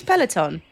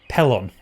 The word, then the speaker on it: Pelon: Did you say his name's Peloton? Pelon. Oh, I thought it was like Peloton.